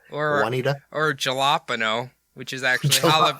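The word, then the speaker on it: jalapeño: but it's like a y or whatever or jalapeno which is actually olive jalapeno and that is exactly how it's said to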